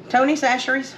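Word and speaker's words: Tony Chachere's: let me show you Tony sasher that's how you pronounce it saseries it's a creole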